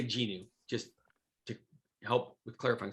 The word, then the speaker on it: GNU: and by the way you can pronounce this genu or new i'm gonna say gnu just to help with